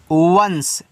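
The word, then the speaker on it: once: ओ एन सी ई इसको पढ़ते हैं वंस। ठीक है? इसको वंस पढ़ते हैं।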